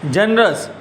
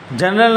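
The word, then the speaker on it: generous: 6 जनरस। जनरल नहीं जनरस। जनरस एटले उदार। अहींया मैं उच्चार पण लख्यो छे, आ स्पेलिंग है जेने आपणे वर्ड कहीए छीए जनरस। जनरस बोलाय छे ए उच्चार कहेवाय अने एनो मीनिंग थाय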